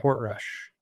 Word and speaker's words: Portrush: So this year we have Royal Portrush, if I'm pronouncing that correctly. Portrush. Yeah, Portrush.